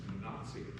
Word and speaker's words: Wenatchee: And it's like I learned from my elder that there's not even pronounced right, it's Wenatchee.